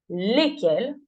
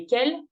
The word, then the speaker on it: lesquelles: une réponse pluriel attention la prononciation est exactement la même au pluriel les lesquel lesquel la différence n'est que sur l'orthographe d'accord donc seul le